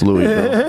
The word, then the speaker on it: Louisville: No, it's Louisville, because the S is silent.